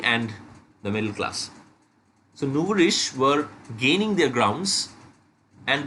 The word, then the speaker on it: nouveau riche: I have written the pronunciation over here, nouveau riche.